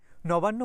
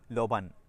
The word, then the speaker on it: নবান্ন: পর্যন্ত আমার সঙ্গে থাকবেন নবান্্য মানে হচ্ছে নতুন ধানের উৎসব গ্রাম বাংলায় বলা হয় লবান নবান্্য থেকে নবান্ এবং সেখান থেকে লবান নকে ল উচ্চারণ করার প্রবণতা থেকেই এসেছে আর ভাত আমাদের জীবনের